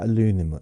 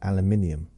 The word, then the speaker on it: aluminium: But things like aluminum aluminum alum aluminum we call it aluminium. aluminum, aluminium.